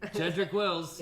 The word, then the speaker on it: Jedrick Wills: Jedrick Wills, Hey, I got it right. He got it right. Yeah, hey. that's it.